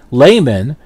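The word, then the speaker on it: Lehmann: of rhymes with bastard layman as in layman terms to pay the company's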